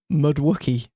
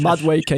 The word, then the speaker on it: Madueke: the Madueke thing, or what did Paul Merson call him? Mudwookie. Oh, so bad, man. This guy's a paid pundit. Like, just like, I know pronunciations can be hard, but come on, he's been playing for a long time. Madueke is not hard, but anyway, even there.